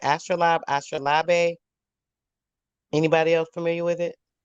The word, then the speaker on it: astrolabe: make astronomical measurements okay so it's called it's pronounced astra lob okay and it is an instrument that's formerly